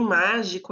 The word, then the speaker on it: mágico: Em mágico, a gente tem o má, em frágil, o frá, e em verão, urão.